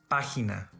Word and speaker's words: página: When letter G is followed by E or I, it's pronounced as a strong English H sound or German Bach. Imagen, general, elegir, página.